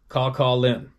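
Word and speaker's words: Kawkawlin: River k a w k a w l i n River pronounced Calin the Calin River Runs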